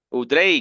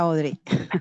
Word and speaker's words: Audrey: Udrey, cuéntanos el aprendizaje de hoy. Hola, buenas noches. ¿Me escuchas, Johnny? Te escuchamos fuerte y claro. Ajá. Audrey, se pronuncia Audrey.